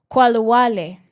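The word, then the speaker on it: Khalwale: Qualawale.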